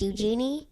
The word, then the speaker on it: Eugenie: I actually think it's pronounced Eugenie.